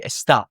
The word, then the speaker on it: está: So it follows the same thing, except the stress is on the ending for estar, for all of them. And so it's, instead of being estas, it's estas, or esta would be está.